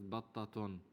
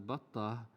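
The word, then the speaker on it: بطة: We mentioned before that batta can also pronounce as battatun, but we pronounce it as batta because we can stop at ta. If we can stop at ta marbuta, then we have to.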